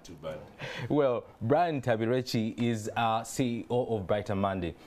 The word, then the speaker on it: Ntambirweki: I have Brian Ntambirweki. Did I pronounce that right? Yeah, you did. Not too bad. Well, Brian Ntambirweki is CEO of Brighter Monday.